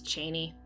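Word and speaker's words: Chani: far by the way i say cheney that's how frank herbert pronounced it i don't know how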